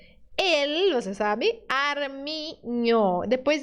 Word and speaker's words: armiño: Esse símbolo não está no português, né? Mas ele tem um som, ele representa um som que está no português, que é o som do NH.